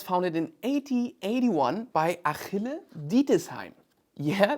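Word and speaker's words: Ditesheim: The company was founded in 1881 by Achille Dietesheim. Yeah, that's the way we pronounce it in German.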